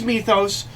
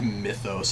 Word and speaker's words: Methos: name is methos um it's with an E it's m e t h o s it's methos um but